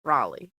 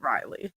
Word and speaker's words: Raleigh: And I felt like this year they were really, you know, oh, they're saying it's pronounced Raleigh. Raleigh. Yeah, that's how I heard it. I So maybe I said Riley.